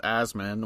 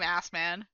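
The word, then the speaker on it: Asman: him that so like his last name is supposed to be pronounced asmin which like whatever sure I'm I I'm not doing that oh at all no I'm calling him assman oh okay if you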